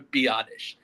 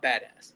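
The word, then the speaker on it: Biadasz: Tyler Biottish. I was have I was saying badass so much on last episode. It's Tyler Biottish. the center. That is his name is Tyler Biottish. Not badass.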